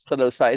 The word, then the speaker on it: Psilocybe: Psilocybe. It's a silent P, yeah.